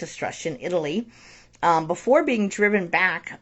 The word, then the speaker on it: Etruscan: So their armies eventually conquered Africa as far as Egypt, and Europe as far as the Etruscan, I always mispronounce this word, I think it's Etruscan, Italy, before being driven back by the Athenian-led alliance.